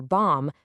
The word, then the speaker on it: bomb: You don't pronounce the B in climb or bomb because it's following that M, and you don't hear it in doubt or subtle because it comes just before a T.